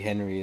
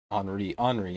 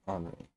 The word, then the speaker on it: Henri: Terry Henry is the king, though. I knew Tommy was gonna say that. Henri is how you say his name, though, right? Henri.